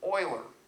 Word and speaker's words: Euler: Be careful of the pronunciation because you might be showing lack of knowledge, it's Leibniz and Euler. EU is pronounced OI. It's Germanic.